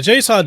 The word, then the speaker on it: JSAUX: The JSAUX docks, JSAUX, that's how they say, that's the correct way to pronounce it.